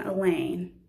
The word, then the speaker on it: Elaine: in the class, and Elaine, which rhymes with pain.